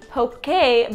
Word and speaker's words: poke: to make some DIY poke a bowls originally I was calling them pokey bowls but I'll put the proper pronunciation here so you guys